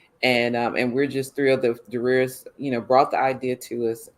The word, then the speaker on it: Darius: Because the world is listening, it's actually Darius. Darius. That's right. Yeah, excuse me. Well, it's okay. It's confusing. Felt like and so people pronounce it all different ways, so it's no problem. But it is Darius. Darius.